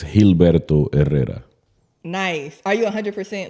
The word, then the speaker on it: Gilberto Herrera: So in Spanish, it's Gilberto Herrera.